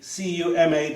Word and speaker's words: Cumann: I was going to ask Mona for pronunciations, and I've forgotten the pronunciation. I don't want to. It's the C-U-M-A-N-N.